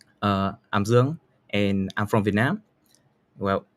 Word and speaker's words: Dương: Hanoi is the center of Vietnam, and my name is pronounced as Dương. It's quite flat, and the pitching is from mid to high. It's not Zuong or Dương or Dương.